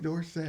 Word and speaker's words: Dorsett: He changed the pronunciation to Dorset, or either we had it wrong. Somebody it's had probably it more likely wrong the whole time.